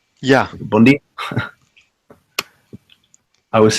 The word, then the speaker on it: bom dia: get used to the That's weird how they pronounce N. They pronounce N like M. Yeah. Bom dia.